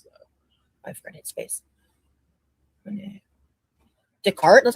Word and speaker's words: Descartes: Descartes. That's how you say that. That's how you pronounce it. Yeah. Descartes. Oh, so the S is silent.